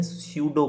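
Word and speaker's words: pseudo: हैं, उसको बोलते हैं स्यूडो कोड। क्या बोला जाता है उसको, उसको बोला जाता है स्यूडो कोड। पी यहाँ पे साइलेंट होता है।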